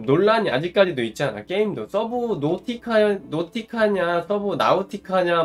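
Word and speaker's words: Subnautica: 그러니까 서브 노티카로 결론이 났어요. 그러니까 서브 노티카가 맞는 발음이다.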